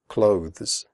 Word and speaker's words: clothes: The final sound is a the followed by an s. Clothes. If this is difficult for you, just pronounce it like close, as in close the door.